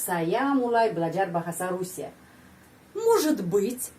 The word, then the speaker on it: может быть: Может быть, dan penekanannya pada huruf O. Может быть, может быть. Coba pengucapan может быть, di sana ada ж. Может быть, может быть. Kita mengucapkan seperti satu phrase ya, sambung.